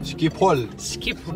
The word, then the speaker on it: Schiphol: I'm wondering, how do English people say Schiphol? I think it's very difficult. Schiphol. The way to pronounce this is Amsterdam Schiphol Airport.